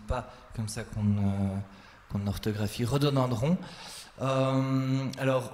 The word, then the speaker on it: rhododendron: Alors, là, j'ai un problème d'orthographe, donc Monsieur Benjamin Denis, ce n'est pas comme ça qu'on orthographie rhododendron. Alors, rhododendron s'écrit avec une lettre qui ne se prononce pas.